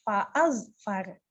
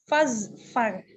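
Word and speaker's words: فَاظْفَرْ: Yang membacakan fa'azfar. Nah, cara membacanya adalah digabungkan fazfar. Jadi tidak dibaca fa'azfar. Fazfar, iya. Iya, betul. Walaupun ada alifnya ya, jadi fa-nya panjang ya. Iya, itu alif wasal, jadi disambungkan fazfar.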